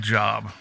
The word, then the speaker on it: Job: Believe it's pronounced job.